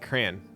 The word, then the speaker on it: crayon: a long pole version I'm saying Crown in my head and I actually say it like crayon Sandy you say it you I there's no other way to pronounce this I don't even know what do you say crayon who says crayon can hey can I